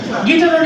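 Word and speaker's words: guitar: English and skill আচ্ছা next কিতা লাগছে দৌকা গিটার ইউটা দৌকা সাইলেন্ট যদি ইউর উচ্চারণ হয় কি দইব ইউর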